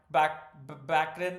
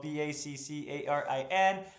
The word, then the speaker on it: Baccarin: Morana Baccarin, excuse me, I mispronounced that as well. Baccarin.